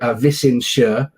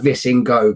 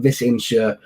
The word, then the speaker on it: Visingsö: tiny little island called it's pronounced closely to Visingsö. If you were to read it on paper as a Brit such as I am, it would look like Visingo, but Visingsö Island, which is in